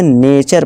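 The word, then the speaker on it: nature: पढ़ते हैं लास्ट हमारा यदि किसी शब्द में एस के आगे एस के आगे क्या आ जाए टी आई ओ एन आए या टी के आगे यू आर ई आए तो टी का उच्चारण च होता है ठीक है दोस्तों एग्जांपल देखिए दोस्तों जैसे यहां पर क्वेश्चन क्वेश्चन इसे क्वेश्चन नहीं इसे क्वेश्चन पढ़ेंगे इसी तरह से नेचर पढ़ेंगे टूरे नहीं टूरे नहीं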